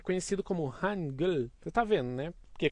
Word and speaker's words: Hangul: E aí a primeira sílaba é Han, a segunda é Gul, vira Hangul.